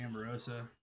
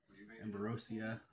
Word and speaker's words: Ambrosia: near as good as the cherry amorosa ambrosia ambrosia and bro jeah ok I was pronouncing it wrong but Devils holiday it's